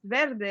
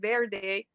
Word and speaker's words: Verde: funny when you hear why people try to pronounce verde and they can they're like their day and then you can tell the hispanics you know they can pronounce it properly but then they know